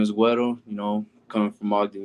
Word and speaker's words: Guero: this right real quick I was gonna ask you before I pronounced it if it was Guero or Guerrero my bad um no